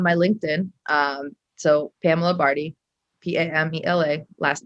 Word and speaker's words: Bardhi: linkedin um so pamela barty p-a-m-e-l-a last name barty rhymes with party but not spelled that way b-a-r-d-h-i is my last